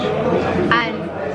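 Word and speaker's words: âne: An.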